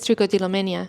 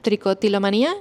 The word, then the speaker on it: tricotilomanía: Tricotilomenia, eh, creo que lo pronuncié un poco como se dice en inglés. Ahora no estoy segura porque en inglés es tricotilomania. Tricotilomanía en español.